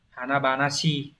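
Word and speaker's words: 華々しい: Câu 6, Olympic ga nani nani khai mạc shita, hán tự là chữ hoa, như vậy chữ hoa sẽ đọc là Hanabanashi đúng nhỉ, dạng phó từ là Hanabanashi, long trọng hoành tráng.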